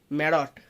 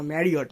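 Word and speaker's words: Marriott: তারপর আমি বলবো না যে কোনো বড় বড় রেস্টুরেন্টে যাও, আইটিসি তারপরে ওটা কি আছে, ম্যারট, না না না ম্যারিয়ট, ম্যারিয়ট। দেখো কোনোদিনও যাইনি তো তাই উচ্চারণ করতে পারি না।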